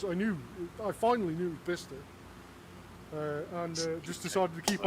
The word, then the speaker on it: Bicester: But I didn't even know it was called Bicester until about 2 years ago. Yeah. Right. I called it Bicester for the longest time. And it's almost to the point where I continued calling it Bicester, ironically, because I finally knew it was Bicester.